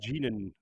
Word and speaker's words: Egwene: I don't know how to pronounce this, but it's like Egwene or something like that. Egwene.